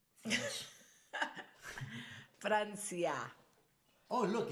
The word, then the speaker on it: Francia: Francia. Oh, look, in Spanish, you see, you don't say France, you say Francia.